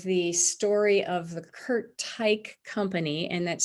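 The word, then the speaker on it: Teich: story of the kurt tyke company and that's spelled t is in tom e-i-c-h but pronounced type with a kind of a hard guttural german sound on the end of the word kurt is pictured here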